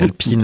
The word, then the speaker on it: Alpine: Alpine, c'est c'est Alpine avec prononcé à l'anglaise. Oui, parce que parce que Alpine maintenant est une écurie anglaise he pour moi.